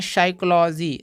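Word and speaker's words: psychology: का कोई भी उच्चारण नहीं करेंगे यहां पी साइलेंट हो जाएगा इसको पढ़ते हैं सूडो सूडो इसको दोस्तों पढ़ते हैं साइकोलॉजी साइकोलॉजी साइकोलॉजी म क्या होता है मनोविज्ञान तो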